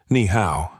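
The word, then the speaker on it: 你好: She corrected gently. Nihow. Push the breath.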